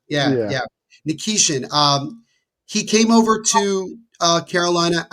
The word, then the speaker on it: Nikishin: Nikishin.